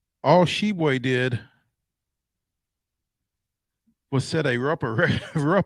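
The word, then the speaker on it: Tshiebwe: with kentucky forward oscar hebwe which is not spelled like it sounds all shebway did was set a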